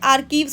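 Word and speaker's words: archives: कोई कोई सुना होगा, अपने आर्चीव्स बोल देता है, आर्चीव्स नहीं आर्कीव्स होता है, वो सी जो है CH जो है साइलेंट होता है, वहीं से आर्केइक आया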